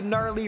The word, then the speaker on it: Gnarly: gwa of course the gnarly wrestling aisle that's right all three words starting with a silent letter the psychological move there